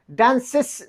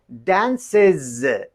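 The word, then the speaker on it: dances: این را باید چه قسم تلفظ کنیم؟ میگیم که دنسز. از صدای از را میته نو ده از آواز ورکی.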